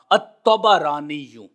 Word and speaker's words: الطبرانی: درست نہیں ہے، یہ طبرانی نہیں ہے اور نہ ہی طبرانی ہے، بلکہ تینوں کے اوپر فتح ہوگا، الطبرانی۔ اب یہ جو نسبت ہے، یہ نسبت کس کی طرف ہے؟